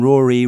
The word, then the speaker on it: Rory: Rory rhymes with Storynory.